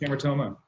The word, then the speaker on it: hamartoma: My question is from the beginning of your presentation when you were talking about the gelastic hamartoma. Is that how you say it? Yeah, hypothalamic hamartoma.